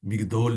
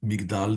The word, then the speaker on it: Migdal: Uns pronunciam Migdol David, mas é mais comum Migdal David.